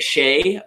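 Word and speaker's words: Skjei: I say it Shay, but even then, it's like one of the harder names to pronounce in the league.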